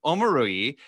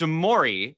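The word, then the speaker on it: Omoruyi: And we called him Omorui, and then we were told that he was like, no, you're saying it wrong. It's Omori. And we were like, oh, okay. So we called it Omori. And then we were told, no, he says it's Omori now.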